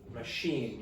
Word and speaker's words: machine: Machine, you use the French pronunciation, machine, okay?